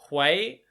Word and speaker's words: Hwei: Now, I want to say his name is pronounced Hwei. Let me know if I'm wrong.